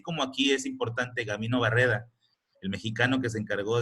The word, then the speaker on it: Barreda: Barreda, no Barrera, Barreda.